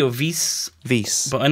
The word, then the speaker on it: vis: Vis. But I'm not really sure. Like, I've never It's V-I-S, so it I just say vis. Vis is how it's spelt.